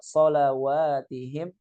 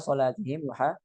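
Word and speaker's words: صلواتهم: Ala salawatihim yuhafizun itu harusnya. Bukan ala salatihim yuhafizun.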